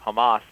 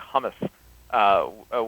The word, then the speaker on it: Hamas: event I just referenced he mispronounced the terrorist group Hamas made it sound like hummus which you know for